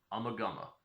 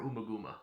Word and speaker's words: Ummagumma: talking about the fourth album from pink floyd amagama or umaguma depending on how you pronounce it all right i've been pretty excited